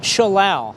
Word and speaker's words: Schallau: Schallau rhymes with cow, however you want to remind yourself.